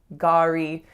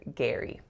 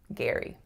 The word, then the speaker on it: Gary: So like Gary or something like that, because phonetically that's what it looks like. But this name most commonly will be pronounced as Gary. Gary.